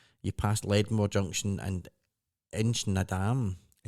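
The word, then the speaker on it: Inchnadamph: You pass Ledmore Junction and Inchnadam. It's spelled DAM. PH, but it's The Inchnadam. PH is The PH silent. is silent, yeah.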